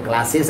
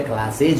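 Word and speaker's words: classes: उसी तरह क्लास है तो क्लासेस, तो क्लासेस अगर कर रहे हैं तो गलत है, क्लासेज होता है।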